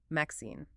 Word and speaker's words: MXene: It's actually a type of material called a Mixine, pronounced Maxine.